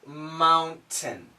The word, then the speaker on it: mountain: young these young mountain now the word is mountain mountain but the typical American pronunciation is mom mount hmm we stopped the sound mum mm mom hmm we stop the sound and basically it's this mound mound ten mountain now when you make